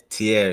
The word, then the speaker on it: Tierre: Now, correct me if I'm not pronouncing it right, man. Tierre. Yeah, Tierre, yes Okay.